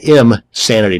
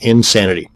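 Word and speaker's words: Imsanity: another one is insanity that's im sanity not insanity both of these once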